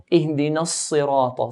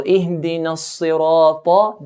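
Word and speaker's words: اهدنا الصراط: So Ihdina as-sirata. Then we have ta here. Ta is from the heavy letters. So we pronounce it in a heavier manner.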